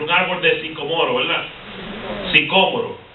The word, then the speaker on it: sicómoro: Sicómoro, si tiene acento en la O.